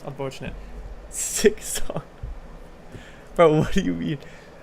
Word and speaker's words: Silksong: You have to like overpronounce it, otherwise you can't hear the L.